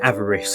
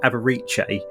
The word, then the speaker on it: avarice: discussed death's door and harry kept pronouncing avarice as aberiche and and you know